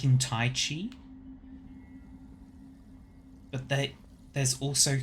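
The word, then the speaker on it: qi: Apparently ki is pronounced with a ch sound. Chi.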